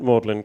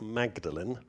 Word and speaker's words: Magdalene: of his career at mlin College Cambridge mlin by the way if you don't know is how we in England for some reason pronounce Magdalene mlin Magdalene and he was